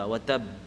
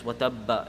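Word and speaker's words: وَتَبَّ: At the end of the ayah, you'll see a shadda on the ba. Watab. Right? It's watabba if you connect it. No, if you're stopping, you don't pronounce it. If you're continuing, then you say watabba. If you're watabbama, if you're connecting it.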